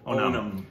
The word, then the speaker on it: Onam: I want to pronounce it properly. Onam.